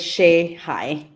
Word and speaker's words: Shehaj: My last name is pronounced as Shihai.